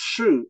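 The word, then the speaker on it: 势: So the Chinese character that is pronounced Shu, S-H-I with the fourth tone, is written on the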